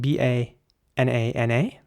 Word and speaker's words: banana: The next word is spelled B-A-N-A-N-A.